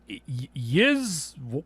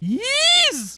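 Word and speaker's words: Ys: It was called Yiz Wise. Ease. I had to look it up. It's pronounced ease.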